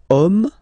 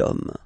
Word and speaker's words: homme: And then here, we've got the word homme, man, okay? But then it starts with H, as in French, H is not pronounced, so the first sound that we hear is O, okay?